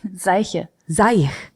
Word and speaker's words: Seiche: qu I don't know Quin how do you say Quint whatever okay but you've been to each